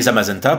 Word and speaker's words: Zamazenta: dérivé du bleu et zamazenta pour mazenta comme magenta le dérivé du rose